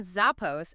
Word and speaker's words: Zappos: playing on Zapos and adding an extra P to help with pronunciation.